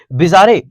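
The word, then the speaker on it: bizarre: बिजारे, हाँ, आप जैसा उच्चारण लगे वैसा पढ़े, हम बहुत खराब करते हैं। हम इस बिजेर पढ़ाता है लेकिन हम बिजारे करते हैं इसको।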